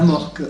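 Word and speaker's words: AMORC: La morque. A-M-O-R. Oui, la morque comme ça se prononce, quoi.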